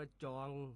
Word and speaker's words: จ่อง: คำ ว่า จอง ครับ จอง เขียน จอ จาน ไม่ เอก ออ อ่าง งู ร่วม ก็ แล้ว อ่าน ว่า จอง ครับ จอง ออก เสียง เป็น จอง นะ ครับ จอง จัง จอง